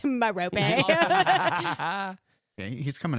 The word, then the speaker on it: Merope: it's Merope. I also Okay, he's coming in hard with the Listen, pronunciations here.